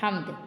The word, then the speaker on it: حمد: پڑھتے ہیں، یہ ہے حمد۔ ح زبر میم ہم دال ہم، حمد۔ ح زبر میم دال حمد۔ اگلا لفظ ہے الف